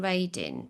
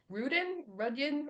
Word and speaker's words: Radin: And you've heard of Dean Radin? Dean Radin, is that how you pronounce his name? Dean Oh, Radin. Rudian or something? Yes, yeah. Radin.